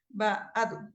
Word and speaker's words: Gbadu: Y su nombre es Badu, es Gbadu, pero se pronuncia Badu. Badu.